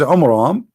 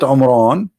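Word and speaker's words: Amram: the father of Moses which is AMRAAM not Imran Imran wrong a wrong name I mean have you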